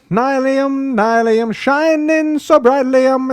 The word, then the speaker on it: Nylium: I know it's Nilium, Nilium, don't be so sillium. Nilium, Nilium, not the big dealium, it's Nilium. Ba-dum, bum, ba-do. Short and sweet. The block's called Nylium, Nylium, pronounce it rightlyum.